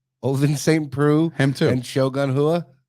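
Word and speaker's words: Saint Preux: When you say Shogun, I said Oliver St. Prix. Ovin St. Preux.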